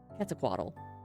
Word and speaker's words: Quetzalcoatl: Quetzalcoatl.